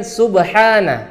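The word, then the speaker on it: سبحان: Pertama, di bagian subhana. Di sini pakai huruf H kecil yang keluar dari tengah tenggorokan.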